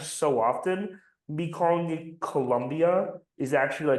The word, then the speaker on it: Colombia: So it's pronounced like colon, like Colombia. You've seen, Yeah. you know how they say it, Colombia.